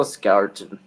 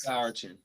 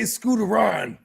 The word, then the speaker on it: Scourton: Let's go Scourton. There it is. Scourton. Yeah. It's not. I was gonna say Scooteron.